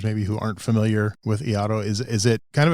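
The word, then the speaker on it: Iaido: So and and the pronunciation is eido. So like yaido.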